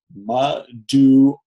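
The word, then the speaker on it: מַדּוּעַ: Madua. Madua. Right? So that's a furtive patak. You pronounce it before the consonant that it comes under.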